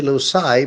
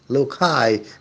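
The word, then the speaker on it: loci: method Locus means Place lokai is the plural of locus you can also say lucai but I prefer the pronunciation look high because it is closer to the classical pronunciation the method was used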